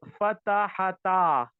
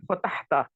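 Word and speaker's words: فتحتا: The correct word is fatahata. Sigha number 5. Huma. Huma. Fatahata. Fatahata. This is the correct pronunciation. Some of my students say fatahta. Fatahta. Fatahta is not correct.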